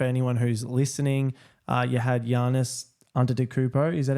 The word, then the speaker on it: Giannis Antetokounmpo: You had Giannis Antetokounmpo.